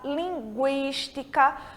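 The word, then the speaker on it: lingüística: Quando a letra U em espanhol precisa ser pronunciada, ela vai ter o trema, que são aqueles 2 pontinhos que ficam em cima da letra U, que em língua portuguesa não existe mais, mas em língua espanhola ele continua existindo. Então, a gente tem linguiça,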